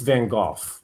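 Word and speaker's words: Van Gogh: I can't spell but um it's Van Go is the proper pronunciation of uh go.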